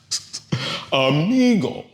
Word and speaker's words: amigo: It ends in a vowel, so stress goes on that second to the last syllable. Amigle, not amigo. No, amigo.